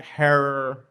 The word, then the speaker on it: Herer: it out as did jack herrer rhymes with terror okay gotcha okay so